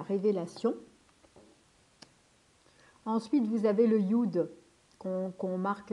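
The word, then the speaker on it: יוד: marque Yod, mais c'est Yud parce qu'en fait, si vous voulez, ou ça existe, c'est compliqué en fait à marquer. Donc du coup, on met Yod, mais c'est Yud, on prononce Yud en hébreu.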